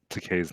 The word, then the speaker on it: Takei: time to correctly pronounce takei's name it rhymes with okay it did really help